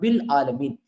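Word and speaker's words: بالعالمين: दो बार बा पढ़ने की वजह से अलिफ जो है वो साइलेंट हो जाता है और सीधा बिल बी के साथ लाम मिलाकर के पढ़ दिया जाता है। बिल आलमीन। लेकिन अगर आप इसको सेपरेट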